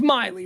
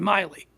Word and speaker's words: Miley: actually Miley Cyrus or should we be saying Milly Cyrus it's Miley right that's the name that's the intended name the intended pronunciation Miley so who's this who's